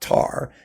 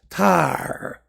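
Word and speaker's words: Tár: So her last name is not Tar, it's Tar. You have to accent the A, it's Tar.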